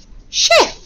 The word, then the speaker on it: chef: Now I know you'd want to write chef as SH for the sh sound, but remember we looked at the CH spelling of the sh sound.